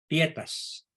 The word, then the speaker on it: pietas: tradición latina veamos el término latino pietas dietas así se pronuncia en latín es muy rico en